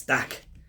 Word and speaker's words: Dak: Luke but no it's Dak and then on the back which rhymes with DAC you got this all